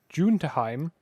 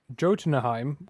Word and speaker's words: Jotunheim: I thought Jotunheim was a Y, but it's got a J here. No, yeah, it's like Jotunheim. Yeah, so I'm assuming it's like German, where you pronounce your J's as Y's.